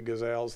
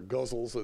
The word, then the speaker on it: ghazal: some of you heard the crazy gazelles that I've done, or guzzles, as some people like to pronounce it, which I think is a horrible way of calling it.